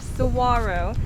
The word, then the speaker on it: saguaro: case you didn't know that's how you pronounce that word right there saguaro named after the cacti